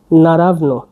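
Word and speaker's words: naravno: হচ্ছে আমি নতুন পেয়েছি অবশ্যই অবশ্যই এটা হচ্ছে নারাবন এটা এন এ আর এভি এন ও নারাবন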